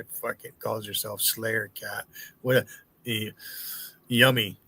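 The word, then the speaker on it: Yomi: Yummy is how you would pronounce it. Not yumi. It'd be y o m i.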